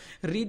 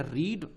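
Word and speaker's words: read: रीड एक ऐसा word है जिसको first form, second form, third form तीनों में रीड ही लिखते हैं, लेकिन इसका प्रोनाउंसिएशन चेंज हो जाता है स्टेप बाय स्टेप पे। रीड, रेड, रेड पढ़ते हैं इसको, ठीक है।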